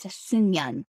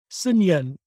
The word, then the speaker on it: Seungyeon: Even for Koreans, it's not easy to pronounce my first name, but it is pronounced as Seungyeon. Seungyeon.